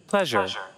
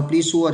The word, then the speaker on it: pleasure: Muốn như này được phải thành âm r r. Pleasure. Đó. Các bạn đọc là please sure thì thôi xong luôn.